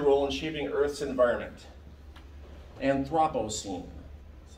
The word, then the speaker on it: Anthropocene: Anthropocene. That's how you pronounce it.